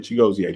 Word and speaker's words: Chigozie: It's really Chigozie. The IE is like an EA.